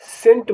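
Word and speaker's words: scent: अंगूठा ऐसे शब्दों को भी बताएंगे जिसमें सी साइलेंट होगा एस ई सी ई एस सी ई एस सी ई एम टी सेंट माने इत्र एस सी आई ई एन सीई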